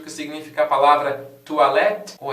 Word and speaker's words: toilette: E você já se perguntou alguma vez o que significa a palavra toilette?